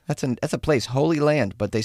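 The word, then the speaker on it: Holey Land: Holy Land, but they spell it H O L E Y.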